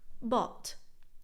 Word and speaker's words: bought: It's just bought.